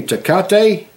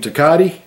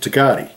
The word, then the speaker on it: Tecate: asked him I said have you ever had any teate and he he said Oh you mean takati so I guess that's how you pronounce it takati um it's a takati